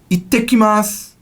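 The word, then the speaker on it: いってきます: You say, ittekimasu. Ittekimasu. There's a double T.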